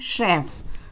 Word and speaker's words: chef: जैसे च उच्चारण वाले शब्द हैं चैरिटी, दूसरा है क उच्चारण वाले शब्द जैसे केमिकल, नेक्स्ट श उच्चारण वाले शब्द हैं CHEF, इसे पढ़ते हैं शेफ।